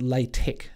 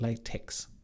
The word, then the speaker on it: LaTeX: doing computer science and apparently this is pronounced ley tech not latex but I share my